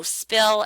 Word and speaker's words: spill: So spill, as I showed you earlier, we don't aspirate on the P there. A word like destruction, even